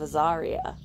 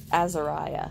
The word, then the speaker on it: Azariah: and Joel son of Azaria it's Azariah sorry I like to pronounce that wrong from the clan of